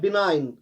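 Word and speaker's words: benign: BNIGN, इसमें जी silent रहता है, बिनाइन, रहम दिल जिसे कहते हैं।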